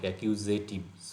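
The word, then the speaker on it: accusative: ইন স্ট্রুমেন্টাল একিউজেটিভ একিউ এই একটা জল একিউজেটিভ উচ্চারণ জেড এর মত আর নমিনেটিভ যাদের একেবার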